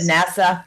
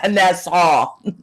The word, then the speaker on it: Nassau: No, it's Nassau. Saying it wrong. I said NASA. Nassau.